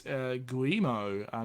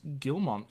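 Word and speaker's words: Guillemot: gilmo family um we've been saying it wrong Joel it's guo not gilmont so it's well gilmo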